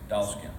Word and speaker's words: Dollskin: Dollskin. Say that. Spell that. Okay, so D-O-L-L. Doll, and then skin, S-K-I-N, Dollskin, yeah.